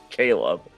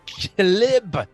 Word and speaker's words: Caleb: actions to get two Caleb to live I'm going to uh uh swing at him this is pronounced calib not Caleb just sitting there Halo